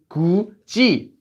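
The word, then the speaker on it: 굳이: This one has this letter followed by e, so it becomes gu-ji, gu-ji.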